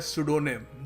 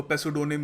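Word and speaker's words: pseudonym: देखिए अगला शब्द है सडोनिम। जी हां पी साइलेंट है। हम इसको पेसोनिम या जो भी नहीं कहेंगे। इसको हम कहेंगे सडोनिम।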